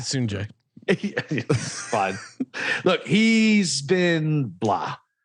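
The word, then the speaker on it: Sungjae: So it's Sunjay, and I pronounce it Soonjae.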